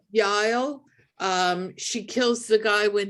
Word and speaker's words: Yael: bash the name Yael, who, how do you pronounce her name? Yael. Yael.